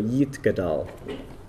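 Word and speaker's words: יתגדל: If you see an I, which is not next to any vowels, it's pronounced E, not I. So Yitgadal.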